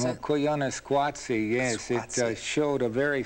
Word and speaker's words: Koyaanisqatsi: Is that how you would pronounce it? Koyaanisqatsi, yes.